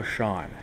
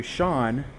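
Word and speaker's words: Seán: Similarly to Shawn, the Irish version is s e a n s the s e makes the sh sound.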